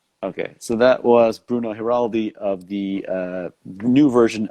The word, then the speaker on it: Giraldi: you on social media at bruno heraldi right correct yeah i think i think you're the first english speaker person who pronounces my last name correctly well i have a